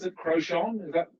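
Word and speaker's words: Crouchen: B, I don't even know how to pronounce it, Crochon. Is that correct? Crochon.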